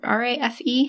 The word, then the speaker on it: Rafe: R-A-F-E? How are we pronouncing this?